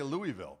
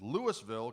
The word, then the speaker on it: Louisville: indeed louisville louisville colorado some people might say louisville they would be incorrect even though it's spelt the same it's louisville colorado um can you dig